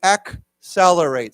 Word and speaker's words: accelerate: say that we pronounce the first C has a k sound and the second has a s sound so we see accelerate so let's say it